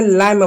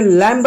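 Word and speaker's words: lamb: जैसे एग्जांपल देखिए यहां पे एक शब्द है जिसको आपने लम पढ़ा। आपने लंब नहीं पढ़ा। ब नहीं पढ़ा। लंब आपने लम पढ़ा। इसको हम लैम पढ़ते हैं। लम नहीं तो लम म बी साइलेंट रहा।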